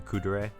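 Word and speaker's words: kuudere: um i guess technically the kudurai i think is the proper way to say it where uh natsuki is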